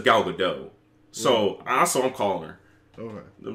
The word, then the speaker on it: Gal Gadot: A lot of people say it's Gal Gadot, but I've heard her say her name on Jimmy Fallon. She says Gal Gadot.